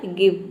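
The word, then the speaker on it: give: जो गिव word है इसमें हम जी आई को जो आई है जो जी है उसको हम ग प्रोनाउंस करते हैं यहां पे देखिए जी का हो जाएगा ग आई का हो जाएगा ई वी का हो जाएगा व ये हो जाएगा गिव गिव का मतलब होता है देना और यहां पे जो ई है ये साइलेंट है क्योंकि वर्ड के अंत में आया है अब देखिए इसके अलावा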